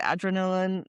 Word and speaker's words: Adrenalin: In German, it's Adrenalin. And so, sometimes, you know, the way you pronounce a word, it sounds differently. You know, every language has like um like a melody, I would say. And so, Adrenalin is German and Adrenaline is English, so sometimes I need